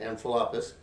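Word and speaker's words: Amphipolis: passed through envelopus that's how you say it amphilapus and which is about 33 miles down the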